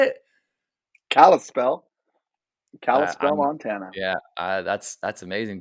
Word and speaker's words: Kalispell: spell yeah how do you say it kalispell kalispell montana yeah that's that's amazing but pastor kevin